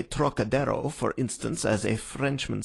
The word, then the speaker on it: Trocadero: That peculiar throaty aspirate the Frenchman gives to the first syllable, as though it were spelled Turok, is utterly beyond the Chinese, and beyond the American, too, whose idea of the tonsillar aspirate leads him to speak of the trochidero, naturally falling back